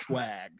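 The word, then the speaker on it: Schwag: it's it is pronounced swag jeremiah just so you know that's there's a there is a ch in there between the s and the w just so everybody's aware it is pronounced swag okay um let's see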